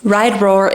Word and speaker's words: RIDERAWR: like what is Right Roar how do I pronounce it what does it mean so I wanted to quickly create a little intro ride Roar is a women's Centric cycling Community we're based